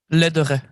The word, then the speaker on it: Lederer: Now, and Gail, your surname is pronounced Lederer? Lederer.